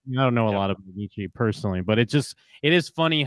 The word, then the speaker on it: Nietzsche: moment of teenage connection where he corrects his pronunciation. It's Nietzsche.